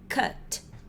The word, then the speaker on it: cut: Esse cara aqui a gente também vai fazer a pronúncia curta. Esse cara aqui vai ser o cut.